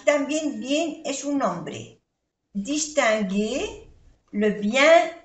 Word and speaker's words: distinguer: Distinguer. Aquí I-N-1, E-R-E, G, G. Esto se pronuncia G. Distinguer.